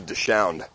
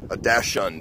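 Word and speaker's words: dachshund: It's called like a Dashound. Not a Dashound, but like a Dashund or something. Yeah, Dashund, that's right.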